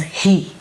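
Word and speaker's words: 日: kanji which denotes sun and it is pronounced as he second kanji it is of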